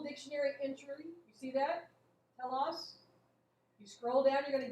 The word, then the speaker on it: telos: So let's look up the word, and I'm going to spell it for you in Greek. You ready? T-E-L-O-S.